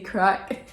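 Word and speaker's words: craic: and so if you've any crack not that there's not the drug crack like that c-r-a-i-c crack i'll put it here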